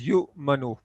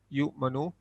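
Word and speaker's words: يُؤْمِنُ: The waw is not pronounced. So this is yu manu. So this is pronounced yu manu.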